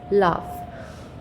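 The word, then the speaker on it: laugh: Then लाफ, word हुआ है जी एच यूज़ हुआ है, लेकिन जो स्वर निकल के आ रहा है, आप साउंड, ये चीज़ को समझेंगे इधर कि जो साउंड निकल के आ रहा है दैट इज लाफ।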